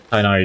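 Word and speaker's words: Tighnari: They Tainari, that's how the games were pronouncing it.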